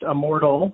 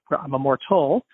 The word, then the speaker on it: IMMORDL: for healthy beverage uh it is pronounced Immortal as you phonetically say it so it's not uh we never say it's I'm a mortal and I have fun